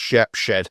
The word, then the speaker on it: Shepshed: I' got to make sure it's actually pronounced Shepshed.